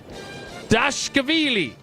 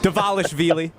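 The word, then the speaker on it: Dvalishvili: Or 3, and there's no way I'm going to pronounce this name correctly, Merab Dashkavili. Close enough. Davalishvili.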